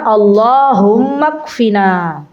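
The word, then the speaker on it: اللَّهُمَّ اكْفِنَا: Saya ulangi. Allahummakfina. Allahumma ikfina. Tulisannya begitu ya. Nanti bacanya Allahummakfina bialalika an haromik.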